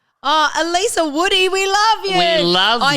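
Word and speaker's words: Elisa: Uh but also my call funnily enough is about pronunciation. Um because my actual name is Alisa much like in the episode Alisa Lamb.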